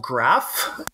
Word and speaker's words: Graaf: Yeah, it's called Graaf. Many people probably would wonder, like, what does that mean? The actual origin or the idea behind the name is for the Van der Graaf balls.